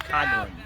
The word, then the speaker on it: Coughlin: Yeah, it looks like Coughlin, but it's pronounced Coughlin.